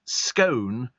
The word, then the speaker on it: scone: them says you should pronounce scone to rhyme with cone and thinks that when